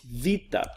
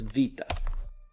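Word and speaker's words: βήτα: felt the epsilon so this is vita looks like a bee but has a V sound so it's vita the next here is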